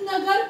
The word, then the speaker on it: know: KNOW, नो, के silent होता है, नो कहते हैं, इसका प्रोनाउंसिएशन नो करते हैं।